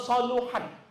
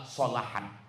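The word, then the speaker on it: صلحت: Jadi kalau nanti ada ustadz ustazah ceramah, idza soluhat, salah. Yang benar adalah solahat.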